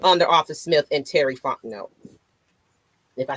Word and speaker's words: Fontenot: Arthur Smith and Terry Fontenot? If I said it right, I hope I did. I'm liking it a lot. So, yeah, you did. Terry Fontenot, not Fontenot. It's Fontenot.